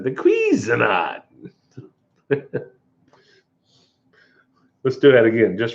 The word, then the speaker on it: Cuisinart: Cuisinart. Cuisinart.